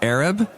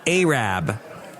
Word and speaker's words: Arab: Okay, it looks like it's spelled Arab, but they say Arab.